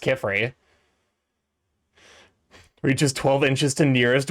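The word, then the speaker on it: Qifrey: There's no U. I'm pretty sure it's just K. It's It's uh Q I F R Y. I'm pretty sure it's pretty clearly supposed to be pronounced Kefrey.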